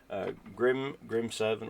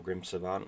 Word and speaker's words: Grim Savant: Grim Servant or Grim Savant, it depends how you want to pronounce it.